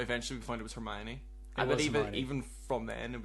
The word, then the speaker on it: Hermione: I always called Hermione Herman.